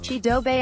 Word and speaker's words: Chidobe: say his name from the Colorado athletic website cheedo Bay always you heaven better check out how he